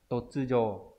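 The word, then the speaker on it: 突如: Hay là từ totsujo đột ngột, đột nhiên này, giống từ totsuzen. Đấy. Totsujo. Đọc là nhiều, ví dụ.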